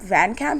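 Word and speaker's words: VanCamp: show called Revenge with Emily Emily Van Camp Van Camp is that how you say it yes there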